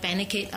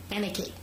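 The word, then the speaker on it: Benecaid: Life Has it um I mostly I like benid a lot more they are small business as well who benate how do you spell that b e n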